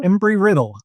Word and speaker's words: Embry-Riddle: How do you pronounce that? Embry-Riddle? Embry-Riddle.